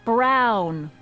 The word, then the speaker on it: Brown: to a te that's EMT Brown rhymes with clown which I'm beginning to